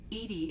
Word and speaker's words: EDI: of thing um why are you named edie edie is the phonetic pronunciation of edi that is an acronym for